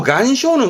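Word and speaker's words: 岩礁: 그래서 발음이 간쇼입니다. 간쇼. 원래 바위라는 것은 이와라 그래서 바위를 말하는 부분인데 요 간쇼는 그냥 단순한 암석만을 말하는 부분이라 한국어나 일본어는 대부분 앞에 거 이 안쇼를 암초로 씁니다.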